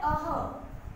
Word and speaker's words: विसर्ग: विसर्ग का उच्चारण व्यंजन ह के समान होता है, ह आधा ह। इसका तो था अंग, जो कि नासिका से बोलते हैं। अब इसका है अह।